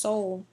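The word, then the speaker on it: Seoul: the capital of korea's soul that's that word is pronounced soul we stop them before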